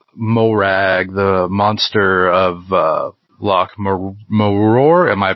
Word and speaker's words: Morar: So the last video that you've put up was Morag, the monster of Loch Morar. Am I pronouncing that correctly? Morar.